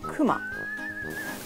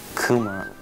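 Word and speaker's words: くま: Kuma. Kuma.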